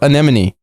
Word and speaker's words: anemone: Look, okay, I'm sorry I just spoiled it then, but look up anemone. Okay. But Grunk, you know what I'm talking about. Spell it right.